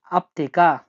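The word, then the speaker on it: аптека: ওষুধের দোকানকে রাশিয়ানে বলা হয় আপতেকা।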